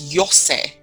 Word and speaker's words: Iose: It's like a soft G. Wait. So did I get the surname right though? The surname is Iose.